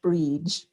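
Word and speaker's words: Bríd: would happen um so my name is pronounced bridge it's it's the irish for bridgette reach like there's a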